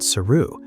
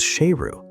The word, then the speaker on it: Sheru: Siru learns that he had been mispronouncing his own name for his entire life. His name wasn't Siru. It was Sheru. And in Hindi, Sheru means lion.